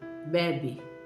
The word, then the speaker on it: bebe: Sem o acento, bebe. Normal, bebe. Ele bebe, eu bebo, ela bebe, nós bebemos. Normal, soa normal.